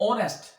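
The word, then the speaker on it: honest: इसी तरह से ऑनेस्ट, ऑनेस्ट का भी एच साइलेंट है और इसकी साउंड ओ से निकलेगी।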